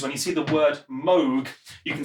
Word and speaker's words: Moog: just says MO cow mood no a cow mowed mode that's different for cows in music if you see Moog spelled like this it's pronounced Moog not moo so even if it's